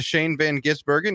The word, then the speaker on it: Shane van Gisbergen: in NASCAR the Xfinity Series win went to Shane Van gisbergen yes that's right that's how you pronounce it it's not that difficult NASCAR on